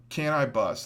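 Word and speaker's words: Canibus: Now the Cannabis uh Can I Bust, that's how you say it or whatever.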